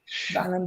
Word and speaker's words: Wallenbergare: Wallenbergare, is that how you pronounce it? Wallenbergare. Yes.